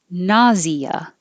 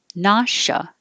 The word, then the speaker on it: nausea: So this can be 51 can be nauseous or nauseous, and 52 can be nausea or nausea.